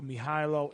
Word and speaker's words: Mihajlo: Mihailo, it's out now. It's spelled Mihajlo.